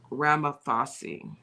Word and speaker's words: Ramaphosa: Now I want to say his name, and I think it's pronounced Ramaphosa.